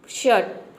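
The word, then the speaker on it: shirt: हैं next rule है यदि किसी वर्ड में आई आर अगर एक साथ हो तो आई आर को हम कहीं पे अर प्रोनाउंस करते हैं और इसे अ भी प्रोनाउंस कर सकते हैं दोनों तरीके से इसका प्रोनंसिएशन करेक्ट होगा तो देखिए शर्ट आपका एग्जांपल है शर्ट यहां पे देखिए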